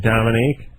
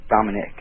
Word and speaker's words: Dominic: Oh, Dominic. Dominic. Oh. Is it spelled with a Q-U-E? Yeah. Is it? Oh, okay. That's not how you spell it, is it? Is it Dominic? No, I-C-K.